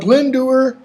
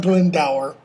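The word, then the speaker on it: Glendower: the irregular and wild glen doer not glen dower glendur was by the rude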